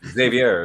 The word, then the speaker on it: Xavier: It's Xavier, isn't it? Yes, correct, Mark.